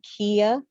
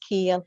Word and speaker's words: Kyia: It's pronounced Kia, like the Oh, car. Kyia, like the car. Okay, I Like the truly car. apologize. It is Kyia, okay. Yes. Kyia Mobley, guys. Kyia, just like the car.